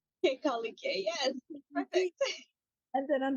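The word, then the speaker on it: Kekaulike: And Erin, what is the other one that I never can pronounce? King Kekoliki? Kekolike, yes, perfect.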